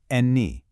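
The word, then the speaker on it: enni: Any pronounced eni to eat.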